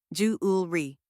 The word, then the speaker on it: jewelry: The first part is Jew, like in jewel. Next is ul, a quick soft sound. And finally, re, like the word tree, but softer. Now, say it with me: jewelry.